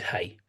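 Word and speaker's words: 氣: So the word is hey.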